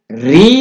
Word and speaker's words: ऋ: दृष्टि से व्यंजन है क्योंकि इसका उच्चारण री होता है यह री उच्चारण में आता है कई बार प्रश्न पूछा